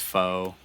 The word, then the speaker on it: pho: to talk about uh how it's pronounced faux and it's good and i don't want to hear anyone else tell me that it's faw because it's it's frankly really